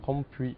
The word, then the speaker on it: Van Rompuy: Rompuy, voilà. Donc ça veut dire Rompuy ou Rompuy? Les deux prononciations coexistent.